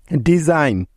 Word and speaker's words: design: এন এর আগে জি থাকলে ওই জিটার উচ্চারণ হয় না, অর্থাৎ সাইলেন্ট থাকে। যেমন সাইন, SIGN, সাইন। ডিজাইন, DESIGN, ডিজাইন।